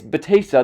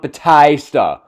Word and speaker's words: Batista: okay it's it's not Batista oh sorry it's Batista not Batista when you're in Philadelphia